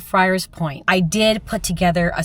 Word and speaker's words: Friars Point: But but for some reason I called Friars Point Ferris Point a couple of times in the video.